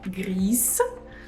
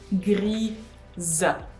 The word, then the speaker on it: grise: This is Russian language case, for instance, and I know that many Russian students make this mistake of pronouncing gris. No, it's grise.